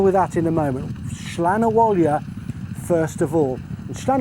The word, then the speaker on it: Slan Abhaile: And the winner of this was number 15, Slan Abhaile. Thanks to racecourse commentator Jerry Hannon for the pronunciation of this horse. Slan Abhaile on debut for Lyons and Colin Keane.